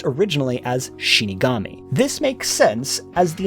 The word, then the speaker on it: Shinigami: are known as death gods, translated from Japanese pronounced originally as Shinigami.